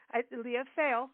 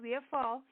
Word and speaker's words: Leah Fall: Leah Fail, but it's Leah Fall.